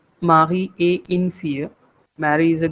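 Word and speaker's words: Marie: The moment you say it in French the pronunciation becomes mi. So the alphabet a is almost like a in French. Okay. And the alphabet R in French language is almost equivalent to the alphabet H in English in terms of pronunciation. Therefore, it becomes mahi. If I give you one phonetic, it is mahi.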